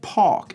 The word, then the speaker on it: park: He pronounces it park instead of back, right, with a lower A sound.